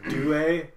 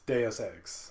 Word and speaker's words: Deus Ex: There was a guy I worked with that said it would pronounce it "due," and he'd be like, "Well, in French you pronounce it that way." I was like, "Well, it's not French; it's Greek. I mean, or no, it's not Greek. It's Latin. Latin." And it was like it's Deus Ex, as in Deus Ex Machina.